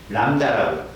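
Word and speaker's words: lambda: 파동이 매질이 한 번 진동한 동안 간 거리, 이 파장을 이렇게 쓰고요, 이렇게 읽어요. 람다라고. B가 묵음이에요. 람다.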